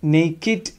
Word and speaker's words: naked: also has got exception so here according to this rule both these have to be pronounced Nate Truths wikked idea but remember they are exceptions so their pronunciation will